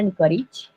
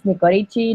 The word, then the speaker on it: Nicorici: So my name is Alexandra Nicorici. I Okay, know got many it. people pronounce that. It's fine. And many people tell me it's Nicorici. No, it's not Italian.